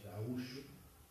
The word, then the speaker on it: gaúcho: Pero del lado brasileño hay un estado que se llama Río Grande do Sul, que la palabra gaucho, que en portugués se pronuncia gaúcho, significa, es el gentilicio de aquel que nació en Río Grande do Sul.